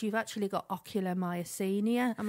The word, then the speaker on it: ocular myasthenia: they were doing, they said, you've actually got ocular myasthenia.